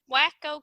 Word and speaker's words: Wasco: I don't know how that is actually pronounced. Wacko County. Wacko. Let's go with wacko.